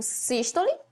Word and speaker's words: sístole: dois movimentos conhecido como sístole e diástole presta atenção na pronúncia sístole cisto lema pronúncia fechada sístole o coração tá contraído